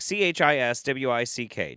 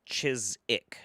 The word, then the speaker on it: Chiswick: Uh English place name Chiswick pronounced Chisik. Yeah, it's like c h i s w i c k. Chiswick, but it's chisic.